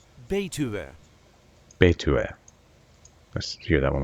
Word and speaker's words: Betuwe: This is the way we say Betuwe. Betuwe.